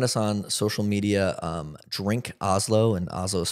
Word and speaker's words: Hazlo: Yeah, well, you can find us on social media, Drink Hazlo, and Hazlo is spelled H-A-Z-L-O. This might be a part two, but Hazlo means do it in Spanish.